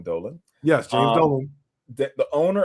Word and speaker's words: Dolan: Speaking about the Knicks in 5, James Dolan, I think that's how you pronounce his name, Dolan.